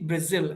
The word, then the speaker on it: Brazil: Brazil? Z, right? Not G. Brazil.